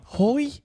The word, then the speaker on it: Hoy: it he been full of these recently Chris hoy's got cancer on your way ho what Hoy he a sir say his name right sir